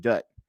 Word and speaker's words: Dutt: I had a hard time with our lead for the first little while of the movie, played by Sanjay Dutt. Is it Dutt? Is that how you pronounce his last name?